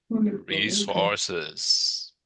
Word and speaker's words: resources: Le S à la fin des mots se prononce. Si c'était français, c'est ressources. On oublie, on s'en fout du S à la fin. Mais en anglais, il faut le prononcer.